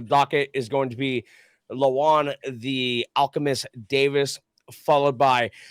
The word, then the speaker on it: Lajuan: are joined here uh if I say your name wrong let me know by uh lean The Alchemist Davis yes sir all right I didn't butcher it I love it was